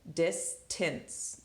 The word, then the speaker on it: distance: it's dis dance okay we got a C followed by E so it's gonna say that's so it's a soft syllable and this is it's actually flexing to the schwa so it says it distance distance distance so again that C